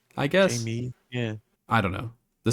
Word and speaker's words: Jame: So instead of James, it's Jame without the S, but they pronounce it Jamie. I guess. Jamie.